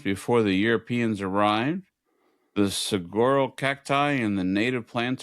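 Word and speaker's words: Saguaro: Um, do you pronounce this? S A G U A R. Sigoro cactus. Sigoro. Cigaro.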